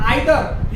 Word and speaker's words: either: मैंने बताया इसको ईदर और भी कहा जाता है, नीदर नॉर भी कहा जाता है, लेकिन ईदर अमेरिकन प्रोनाउंसिएशन है, नीदर अमेरिकन प्रोनाउंसिएशन है और आइदर ये ब्रिटिश प्रोनाउंसिएशन है, नाइदर ब्रिटिश प्रोनाउंसिएशन है।